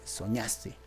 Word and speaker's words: soñaste: Además, ¿cuál es la sílaba tónica de la palabra soñaste? Soñaste, soñaste, soñaste. Repito, soñaste, soñaste, soñaste. Notarás que la sílaba tónica es ñas.